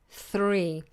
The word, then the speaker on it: three: are following a th3 three and the reason it's difficult is because the th is tongue between the T and then pulls back quickly to the r throw throw now this